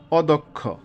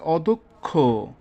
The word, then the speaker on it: অদক্ষ: নম্বরে যে নিয়মটি আছে, মধ্য অ এর পরে যদি ক্ষীয় অথবা বর্গীয় জয় সংযুক্ত থাকে তবে তবে অ এর উচ্চারণ ও এর মতো হবে, যেমন অদক্ষ, অবজ্ঞা।